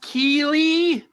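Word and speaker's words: Keighley: I think it's pronounced Keeley, spelled strangely, but I think that's right.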